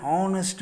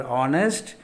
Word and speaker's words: honest: The second example, he is an honest man. Here H is silent. The second letter is say vowel. Vowel. So the before the word honest, the article an is used.